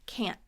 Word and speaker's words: can't: Can't. So it has that K sound, k, and that nasally short A, and.